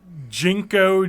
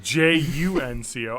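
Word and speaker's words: JNCO: Jinko jeans. Oh, what is this from the 90s? First Early off, 90s? it's spelled Junko jeans. It's Junco.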